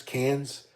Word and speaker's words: Cairns: a few days in Cairns cans they say cannons but they don't pronounce their ours I could do a